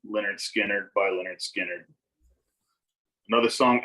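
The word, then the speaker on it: Lynyrd Skynyrd: my next one the album is pronounced leonard skinner by leonard skinner another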